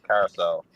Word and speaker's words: Curaçao: And that's how you pronounce it too, Doc. Carousel.